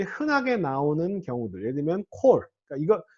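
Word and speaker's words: כָּל: 왜 그러냐 하면 이게 원래 오 발음이에요. 원래 오 발음인데 이거는 자 이건 단독으로 쓸 때는 강세가 오기 때문에 단모음인 오가 장모음화 된 겁니다. 이게 원래 모양이 아니고요. 원래는 단모음 오예요. 콜이.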